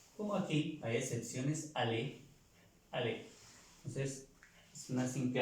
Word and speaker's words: aller: El verbo ir, que se pronuncia y se escribe ayer con doble L y se pronuncia ale, ale.